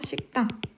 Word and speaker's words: 식당: 되겠죠 자 식당 먹는 식당 발음하면 은 앞에 있는 이 받침 기억 때문에 뒤에 있는 티그 시 된 소리가 됩니다 그래서 식당 이란 발음이 되고요 그 다음에 왕릉은 앞에